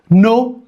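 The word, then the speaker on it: non: ኤን ኦ ኤን ነው። the last n is silent.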